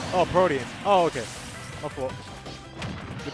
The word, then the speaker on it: Protean: It's Protean. Oh, Protean.